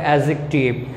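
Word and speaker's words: adjective: আর কি কোথায় ডি উচ্চারণ হয় না, যেমন মনে করো অ্যাজেকটিভ, এখানে ডি উচ্চারণ হবে না, এখানে তোমার উচ্চারণ করতে হবে অ্যাজেকটিভ।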